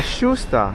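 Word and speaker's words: Justa: Questo ragazzi è l'elevador de Santa Giusta, scusate la pronuncia portoghese pessima. Sarà giusta. Giusta.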